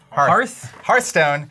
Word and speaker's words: Hearthstone: would host these uh I always say it wrong hearstone hear Hearthstone like Hearthstone tournaments which is this